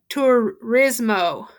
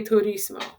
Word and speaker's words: turismo: said uh for example if you say de tourismo okay it's gonna read what you said okay so it's telling you that at her day uh turismo okay which is a particularly bad pronunciation but it's uh de turismo okay so it just